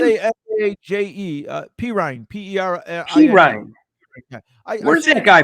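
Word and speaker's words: Perine: Pirine. P-E-R-I-N-E. Pirine. Where's that guy from? Where's he from? I think Oklahoma. He played Oklahoma. Pirine. Yeah. What is that? What nationality? What is that? Pirine.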